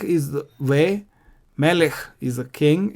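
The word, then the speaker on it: מֶלֶךְ: Melech is the king. In both cases, you have this Shwa under the Chaf, and that is not pronounced. Why? Because it occurs under the last letter.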